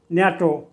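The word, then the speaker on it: NATO: ন্যাটো এখানে এনটিও এই পৃথক ঘরে উচ্চারিত হবে উচ্চারণ হবে ন্যাটো অর্থাৎ শব্দের না উচ্চারিত হবে একে বলা হয়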